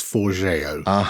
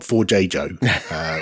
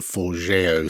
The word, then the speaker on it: Forgejo: I think it's Forgejo. I think. It's not Forgejo, which I think is how it looks on page to us silly Brits. So I wanted to do some testing of the Forgejo snap.